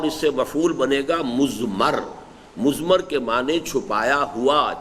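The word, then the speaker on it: مضمر: ہے وہ مزمر ہے۔ عام طور پر جو ہے اس کو تلفظ ہم کر دیتے مزمر، اردو دان، لیکن یہ کہ اب آپ تو عربی دان ہو گئے نا، تو اس لیے آپ کو صحیح تلفظ کرنا چاہیے مزمر ہے۔ دوسرے حریت عمل ہے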